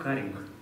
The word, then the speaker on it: каринг: Второй момент — каринг. Иногда ошибочно или неошибочно произношенный как карирование, как правило, ноль.